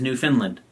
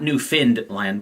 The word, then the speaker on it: Newfoundland: And it's spelled Newfoundland, right? So it's spelled like Newfoundland, right? But I actually had a listener who is from there and said, the authentic way to pronounce this is Newfoundland, right? Not Newfoundland, but Newfoundland, right?